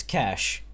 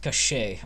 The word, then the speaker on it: cache: to pronounce that word, it's cash. Just like, well, cash, as in money. In this case, cash is just a deposit of ammo. Or something. And it's not pronounced cache or cache or something like that.